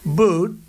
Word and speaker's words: Buttigieg: And Buttigieg, you know Buttigieg? You know, years ago, I said, how do you pronounce that damn name? And they said, Buttigieg, the word edge. That's the way it's pronounced, Buttigieg.